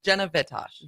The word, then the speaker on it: Vitosh: Jenna Vitosh. Vitosh. Okay. So the accent on the front part.